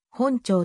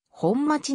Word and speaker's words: 本町: も見られるなお 1960 年以前は条例上の正式な読み方は本庁とされていた 1960 年の町名地番整理の際地元の読み方である本町に変更された渋谷